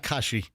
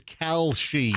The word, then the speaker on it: Kalshi: Yeah, it's not Kashi. What do I think? I think that's a granola product. The healthy cereal. Yeah, it's the odds betting platform is Kalshi.